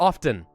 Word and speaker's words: often: guys pronounce this word often or often like do you pronounce the t is what I'm trying to ask because I find that